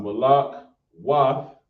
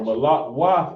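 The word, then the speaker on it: מלכות: Oh, it's a soft. Malak Wath. Oh, it had to be the soft because it's spelled with a K. So Gotcha. Malak Wath is the kingdom.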